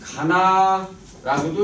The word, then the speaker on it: going to: going to라는 말은요, 할 것이다 라는 말인데 이거를 읽을 때는 가나라고도 읽고 going to라고 읽는데 쓸 때는 항상 going to라고 써야 합니다. 자, 그러면 우리나라에서는 무조건 중학교 때 가면 be going to 그러니까 동사 원형 해갖고 미래만 나타냅니다.